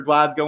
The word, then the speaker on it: Glasgow: I'll get my little cheap plug in for Glasgow when I can.